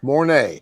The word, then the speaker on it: Mornay: How you pronounce that, Barry? Mornay.